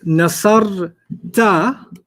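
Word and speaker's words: نصرتَ: When it's nasar ta, Mhm. it rhymes with anta, which Yeah. means you, the guy.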